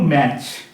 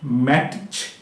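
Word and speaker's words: match: এবার দেখো ম্যাচ। এম এটি সি এইচ ম্যাচ। এখানে কিন্তু ম্যাট ম্যাট উচ্চারণ হবে না। কি হবে? ম্যাচ মানে টিটার কোন উচ্চারণ হচ্ছে না।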